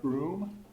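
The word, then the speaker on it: Brougham: some point to this guy's name is Lord broom it's how it's pronounced I've been told and he was he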